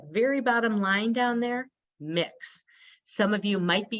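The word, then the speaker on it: Mx: belongs to our community mix is how it's pronounced and if someone has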